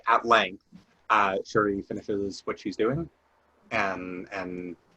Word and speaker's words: Shuri: Um, uh, it's Shuri, right? Yes. I don't know why I'm like suddenly weird on the pronunciation.